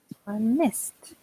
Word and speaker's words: missed: For example, missed. Missed. Yeah. Yeah. If you listen, it's a t sound.